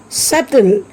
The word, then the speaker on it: subtle: Plumber, subtle. Here also B is silent.